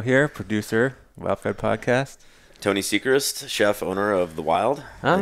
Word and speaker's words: Seichrist: Tony Seichrist, chef, owner of the Wyld. I always say Georgia. Seichrist. You can, whatever. You know, Seichrist is actually how you really Seichrist.